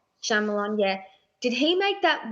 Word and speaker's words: Shyamalan: Shyamalan. Shyamalan, yeah.